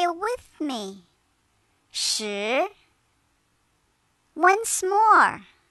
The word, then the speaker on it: 十: 十. It sounds like the word shirt without the T. Now say it with me. 十.